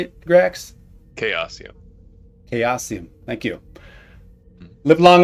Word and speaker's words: Chaosium: Chaosium.